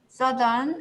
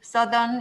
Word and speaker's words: southern: 그래서 northern, southern, 오늘날에도 northern, southern 이렇게 발음되죠. 그죠? 그래서 north 할 때는 voiceless지만 northern, southern 할 때는 voiced가 됩니다.